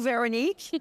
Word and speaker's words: Veronique: Veronique. I want to say it right. Veronique. Yeah. I clearly don't have a French accent. You could do Veronique.